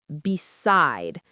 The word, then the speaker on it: beside: So beside is pronounced beside. Two syllables. The stress is on the second syllable.